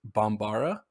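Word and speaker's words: Bambara: national language of mali is bombara i think is how you would pronounce it so it's like it's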